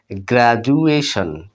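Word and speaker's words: graduation: হলো অন্তস্থীয় জ বা বর্গীর জ এর মত উচ্চারণ হলো গ্রাজুয়ালি মানে ধীরে ধীরে আস্তে আস্তে এরপর দেখুন গ্রাজুয়েশন গ্রাজুয়েশন গ্রাজুয়েশন অন্তস্থির যত হসু দিতে পারেন অথবা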